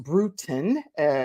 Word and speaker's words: Brutin: right so Lori Lori brutin is pronounced brutin like kind of brewing a tea type of thing and she is a